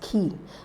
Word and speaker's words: quay: option is key not Quay it's pronounced as key the second option is not